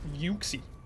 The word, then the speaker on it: Uxie: It's called Uxie. Well, it's actually pronounced Uxie. But it's spelled U-X-I-E. So I was thinking, ah, that's Uxie.